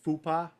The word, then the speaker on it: FUPA: Chris, I think the Grossi- correct pronunciation is Fupa, but okay.